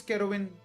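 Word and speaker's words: Kerowyn: um so um all right my name is kerwin who's real heroine yeah k-e-r-o-w-y-n and you guys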